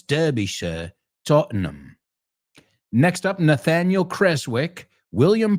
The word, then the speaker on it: Tottenham: It's not ham, it's Tottenham. I'm saying it because most Americans would say Tottenham, Derbyshire, and it's Derbyshire, Tottenham.